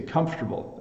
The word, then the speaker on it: comfortable: quite comfortable comfortable so we we don't elongate the syllable in the middle so um we simply kind of shorten the word and we say comfortable um when I get